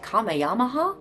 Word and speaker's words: Kamehameha: Kamehameha, or as I also heard it pronounced at one point, Kameayyama. I'm not entirely sure which one's correct, but I was told everyone says Kamehameha. He was the king of